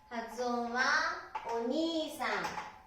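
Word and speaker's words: お兄さん: 発音はお兄さん、発音はお兄さんですね。でもにいですね。ここにいがつきます。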